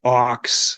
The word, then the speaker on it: Aawks: so help me out band is pronounced Ox like the animal okay that's what I